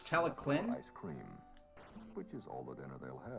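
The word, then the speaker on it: Talyllyn: the face and it's he pronounces it tally lin but in welsh the double l sound makes sort of a k or a c sound so it's teleclin ice cream which is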